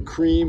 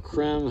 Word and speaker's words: Creme: today uh with the the cream or creme however you want to pronounce the baits for a